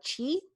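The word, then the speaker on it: qi: that you use and we we spoke about Chi yes I hope I pronounced that right yes so that is part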